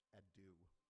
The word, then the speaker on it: Adu: I'm getting word that the warrior's name is pronounced Adu, like Sidu, which is like the Adu.